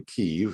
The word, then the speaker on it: Kyiv: My wife and family were privileged to live in the capital city of Ukraine, in Kyiv, as it's pronounced, from 1997 to 2000.